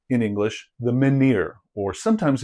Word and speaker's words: menhir: Maybe the most iconic megalithic structure is the individual standing stone, which we call in English the menhir, or sometimes it's pronounced menhir.